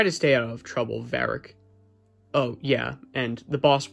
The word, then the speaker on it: Varik: a seat to vark my name's pronounced varric yeah whatever anyways you